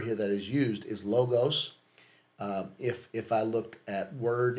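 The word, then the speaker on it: λόγος: I was saying logos or logos. It's logos.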